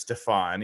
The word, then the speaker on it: Stefan: which by the way it is Stefan even though it's spelled like Stephen um to play defensive